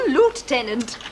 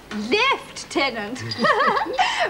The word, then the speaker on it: lieutenant: through look how I have repaired this little lootenant it's not Lieutenant it's life tenant you foreign